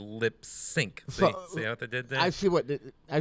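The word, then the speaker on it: Lipps Inc: singing about new york now lip sync is that technically how it's supposed to be pronounced that's the first time i've heard it that way yeah it's 40 years it's it's written as lips inc but it's supposed to be lip sync see what they did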